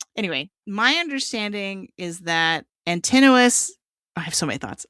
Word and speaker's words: Antinous: But I keep hearing everyone say Antinous, like continuous, and I'm like, what? that's not how I thought you said it. But anyway, my understanding is that Antinous.